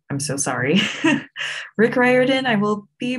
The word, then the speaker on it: Rick Riordan: Rick Riordan, I will be pronouncing correctly because that is how you say his name.